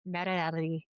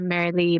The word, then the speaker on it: Mariely: Again, it's Marelli. She told me to call her Mary Lee, but I insisted on going with the the Spanish pronunciation, so that's what I get at the end of the episode.